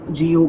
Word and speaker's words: GU: इट is pronounced as GU बाय द वे, आपको वो दुकान मिल जाएगी।